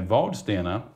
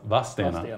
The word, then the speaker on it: Vadstena: Jag och mina bröder är uppvuxna i Vadstena, uttalas Vadstena. Ja. Så jag gjorde misstaget direkt.